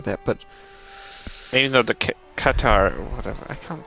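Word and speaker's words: Qatar: but even though the catar whatever I can't pronounce them properly in English guitar guitar okay guitar like guitar but hard K all right I'll take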